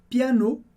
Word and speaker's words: piano: Aqui a gente tem o le, que significa o em francês, e piano, que é o piano. Importante com a sílaba forte no final, piano.